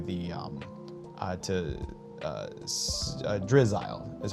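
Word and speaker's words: Drizzile: And then I would probably try to evolve one of these to get to the um uh to uh Drizzle is how you pronounce it.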